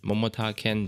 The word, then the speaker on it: 桃田賢斗: 名字的日语发音是 Momota Kento，他的球迷也称呼他